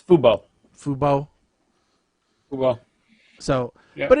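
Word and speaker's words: FUBU: I don't know exactly how you pronounce Fubo, or if it's Fubo or whatever. No, it's Fubo.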